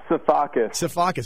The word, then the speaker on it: Sifakis: know you as saus seacus exactly how it's spelled why couldn't I get that